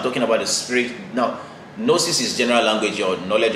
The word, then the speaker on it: gnosis: Okay, principally, all right, the word gnosis, the Greek word gnosis, gnosis, G, all right, G-N-O-S-I-S, gnosis, the G is silent, all right, is the general word for knowledge, okay?